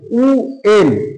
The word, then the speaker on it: when: এরপরে WHEN উ এন উ এন মানে কখন। WHERE উ আর উ আর, এরকম উচ্চারণ গুলো আসবে কিন্তু।